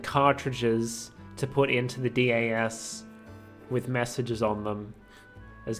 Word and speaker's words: DS: Is the DAS reacting? So, okay, so I guess we're supposed to pronounce it DAS and not DAS.